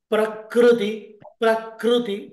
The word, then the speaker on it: प्रकृति: When there is kru, prakriti, no. Prakriti. That is correct.